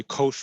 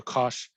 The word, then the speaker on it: cosh: looks like cosh actually some people say kos either way coast or cosh x okay i don't